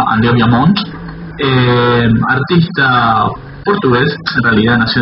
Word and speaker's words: André ViaMonte: pueden encontrar en las redes sociales, pero se pronuncia Andrea Viamont, artista portugués, en realidad nació en Zurich, pero bueno, está más identificado con Portugal.